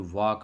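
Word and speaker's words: walk: और वाक में एल की साउंड नहीं आ रही तो एल हमारा साइलेंट है।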